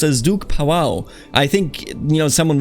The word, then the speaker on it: Pavao: to pronounce it but I think this pronounced powwow so with a very light stress on the V but either way we